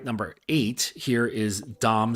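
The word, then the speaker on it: Domme: number eight here is Dom spell d mme and this is just the feminized version of Dom so this refers to a female dominant and is pronounced the same that's really the one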